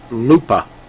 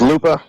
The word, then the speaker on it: Lupa: field out there L Lupa how you say his name Lupa Gonzalez is Lupa not Lup yeah Lupa kind of